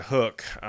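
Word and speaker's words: Huk: probably run into the Hook gear. H-U-K is the way Hook is spelled, and they really have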